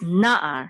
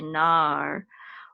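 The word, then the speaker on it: נַעַר: So it's na'ar, not na'ar, but na'ar. And again, this ayin, because it's a separate syllable from this, we're going to make sure we have, there's a distinct separation between the first syllable and the second syllable. So we're not going to say nar, we're going to say na'ar, na'ar, okay?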